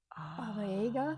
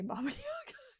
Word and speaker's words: Baba Yaga: with the Bob, and I know I'm saying it wrong because apparently it's actually Aga, Baba Yaga, Oh. but I'm still going to say Baba Yaga because I feel like